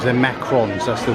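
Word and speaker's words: macarons: Saying they're macaroons, they're macrons, that's the right pronunciation for it.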